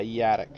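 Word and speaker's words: Yadak: a very large hotel jardinkin yard yardick yeah you say attic yeah yatik so y-a-d-a-k like yeah yeah he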